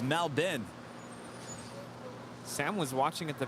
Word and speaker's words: Melbourne: say it now i used to call it mel byrne i used to call it mel born born well someone actually lives there our friend